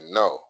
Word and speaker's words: know: Or we told that the K is silent, so we say no.